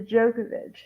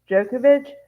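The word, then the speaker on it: Djokovic: Spain and then also no Novak the jokovic jokovic U because back in their country you don't pronounce the d I think um okay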